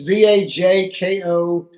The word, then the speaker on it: Vajko: Rhymes with Yes, Waco, you got it. not spelled like that. Really throws me. It's Vajko.